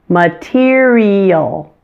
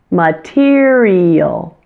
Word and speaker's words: material: in levels of something it sounds exactly the same as those two words and it rhymes with the word ear and here the third